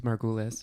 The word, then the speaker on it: Margulies: you please correct me or give us the pronunciation we can use Margules my goal is jared is a postdoctoral research